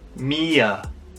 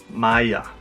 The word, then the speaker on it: Mia: Mia, or as some people might pronounce it, Maya.